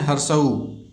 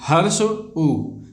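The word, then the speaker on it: ह्रस्व उ: तो हर्ष, हर्ष उ, ठीक है, हर्ष उ, इसी को हम लोग पढ़ते पढ़ते क्या बोल देते हैं? हर्षऊ। नहीं, हर्ष उ।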